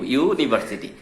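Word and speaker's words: university: যদিও ইউ দ্বারা শুরু, উচ্চারণটা কি হচ্ছে? ওয়াই, ওয়াই ও ইউ, ইউনিভার্সিটি।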